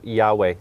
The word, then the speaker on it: Yahweh: collegiate dictionary it says jehovah or jehovah is a false reading of the hebrew yahweh that's from 1973 edition